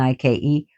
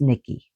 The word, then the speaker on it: Nike: So another goddess of victory among the Greeks is Niki Nikki which is people pronounce wrongfully because of the shoes Nike and I ke but it's Nikki which literally means victory herself who is also a goddess of war and victory.